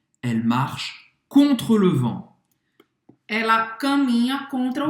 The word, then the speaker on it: vent: Não pronuncia o T no final. Vent.